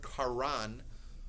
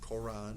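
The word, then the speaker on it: קרן: The word karan, not Koran.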